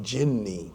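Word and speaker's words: jinni: we mentioned before a single gin which is jinny that's the correct pronunciation a single gin and you have the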